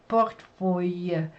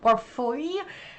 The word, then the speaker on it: portefeuille: So it's like that R that I have to first throw in. So it's port is very hard for me to pronounce with that rolling R, port. And then they have this like phew sound.